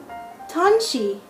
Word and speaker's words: Tanshi: Tanshi. That was great. Now once more, ready? We're going to say it in syllables. Tan, she.